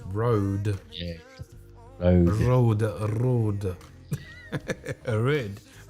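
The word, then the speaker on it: Røde: The company is pronounced Rode. Company is pronounced Road.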